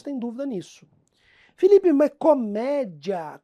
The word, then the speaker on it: comédia: Nisso Felipe mas comédia comédia aí a pessoa começa a pronunciar como se ela tivesse chupado gelo por meia hora e começa a achar que no fundo aquelas sílabas são separadas Ah Felipe Isso não é um um iato não é Ó sempre que